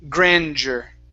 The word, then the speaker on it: grandeur: So this is a J sound with the D, so it's grandeur.